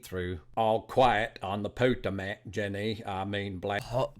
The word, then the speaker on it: Potomac: at the read through All Quiet on the Potomac Jenny I mean black hot Potomac what did I say Potter Mac bench so it was a weird time but